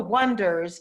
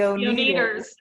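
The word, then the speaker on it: Oneders: entire film which is they're called the wonders but it's spelled o-n-e-1 d-e-r-s and so people keep calling him the own the owners and it's just ridiculous and this whole dynamic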